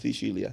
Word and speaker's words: Sicilia: Shicilia. Yes. You had to give me a lesson on how to pronounce it because I knew I was going to say it the wrong way.